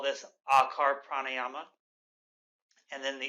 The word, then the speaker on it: akar: as I demonstrate so the idea with akar the first syllable of the OM and the sound ah the idea here is